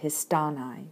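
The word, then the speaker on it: ἱστάναι: need to know that the accent is fixed in the syllable right before the nigh and so we get didanai tethenai and histanai for the present infinitive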